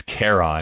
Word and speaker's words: Charon: you maybe add Heracles, and maybe you add Charon, I think you have this. It's Charon. Is, I think how you say it. Yeah. Yep. Which of course, it's Charon.